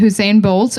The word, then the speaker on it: Usain: These are the Usain Bolt of zombies because one, they were fast. Wait, did you say Hussein Bolt? Usain Bolt. Whatever.